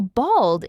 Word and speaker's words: bald: The pronunciation is slightly different, too. Bold has more of an O sound, while bald is a bit flatter with an A sound.